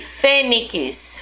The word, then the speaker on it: fênix: Olha aqui, fênix, fê, né? Sozinho, o zi.